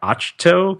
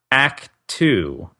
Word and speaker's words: Ahch-To: And I have been pronouncing that Achto because I've never heard anyone pronounce it out loud.